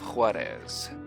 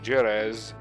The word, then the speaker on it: Juarez: game called Call of Juarez of call of jurors it is actually pronounced with the J this particular game is